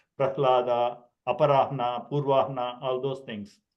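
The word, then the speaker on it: Prahlāda: Like a lot of people say pralhada. It sounds odd to me when I can easily pronounce prahlada.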